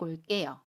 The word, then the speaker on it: 올게요: 일찍 올게요. 여기에서도 리을 뒤에 오는 개는 깨로 발음합니다.